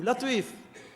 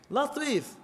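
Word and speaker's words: لطيف: Allah subhanahu wa ta'ala dit latif. Latif. Le mot même, al-Latif, et d'ailleurs nous venons avec ça nom là, Inch'Allah. Latif, prononcez, chers frères, Latif. Mot la même doux.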